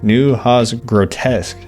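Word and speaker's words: Neue Haas Grotesk: New Hos grotesque, I think is how you're supposed to say.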